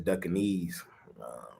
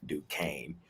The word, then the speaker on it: Duquesne: I call them boys Duckanese. That's how it looks like it should be pronounced. Duquesne.